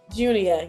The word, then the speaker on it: Junia: And did I pronounce it right for Junia? Junia, yes.